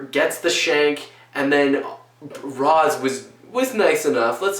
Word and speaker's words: Ra's al Ghul: Or Raish, depending on how you pronounce it. I always pronounce it Roz. Some people pronounce it Raish. Up to you.